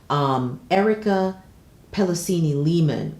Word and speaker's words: Erica Pelosini Lehman: to pause here to look up her name, pronounce it properly, Erica Pellicini Lehman was named as Bold and the Beautiful's executive fashion assistant.